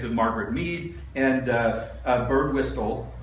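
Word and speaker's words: Birdwhistell: Margaret me and uh bird Wile am I pronouncing his name right whistle yeah bird wistle who uh at the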